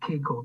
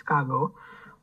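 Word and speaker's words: Kaggle: we also use Kagle others also pronounce it KGO but the word is Kagle right then Google collab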